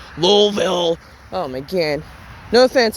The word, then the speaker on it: Louisville: I think that's how the locals pronounce it. It's not Louisville or Louisville. It's Louisville.